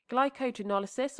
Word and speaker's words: glycogenolysis: Glycogenolysis or glycogenolysis, pronouncing it like that so it's easier to remember, the lysis of glycogen is the splitting or hydrolysis.